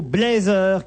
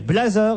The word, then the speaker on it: blazer: Il existe bien deux prononciations du mot blazer, qui pour info vient de l'anglais to blaze, qui signifie flamboyant. On peut dire blazer et on peut dire blazer.